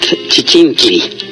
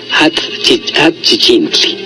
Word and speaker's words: chichincli: desde Amozoc, y bueno, nos pregunta que cómo se dice al chichinque o al chichincle. La palabra original es chichincli, chichincli, en náhuatl, que quiere decir el aguador.